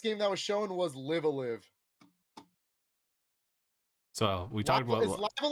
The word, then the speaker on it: Live A Live: that was shown was live a live so we talked about live live live live i think it's live alive i think i've been